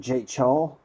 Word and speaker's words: Ja-cheol: be steaks as always oh it's pronounced jaecheol alright Koo ja-cheol oh